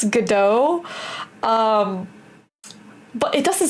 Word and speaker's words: Godot: So I keep saying Godot, and I've heard other people say it before, but my engineer, he gets really mad when I mispronounce it. So I guess it's Godot.